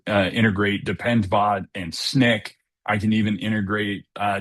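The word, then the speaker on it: Snyk: Uh Sny K I don't want to butcher the name incorporated. Snick.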